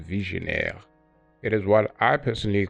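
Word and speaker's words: Vigenère: this Cipher is from French and it's apparently pronounced visionaire it is what I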